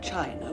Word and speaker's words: Qin: the Great Wall of China was designed by the emperor Qin was a spur excusing I see more it is pronounced chin Thank You mr.